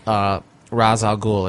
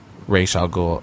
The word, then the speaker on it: Ra's al Ghul: One of the things that bothered me most after leaving the movie was when he tells Ra's al Ghul, as he pronounces it, though it's Ra's al Ghul otherwise.